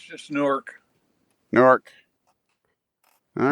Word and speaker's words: Newark: newark newark california or something but it's just newark newark all right if you guys say so